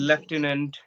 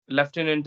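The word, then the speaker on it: lieutenant: is there it's spell is entirely opposite and left inant yes left inant is there and I have memorized various words like monk we mispronounce we say that Monk and yes that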